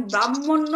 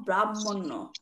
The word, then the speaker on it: ব্রহ্মণ্য: নম ব্রাহ্মণবাম এখানে দেখেন ব্রাহ্মণ্য আপনি বলছেন প্রথম লাইনটা কি নম ব্রাহ্মণ্য নম ব্রাহ্মণ ব্রাহ্মণ্য হয় না উচ্চারণটা হবে কি নম ব্রহ্মণ্য দেবায় প্রথম লাইনেও আছে ব্রাহ্মণ্য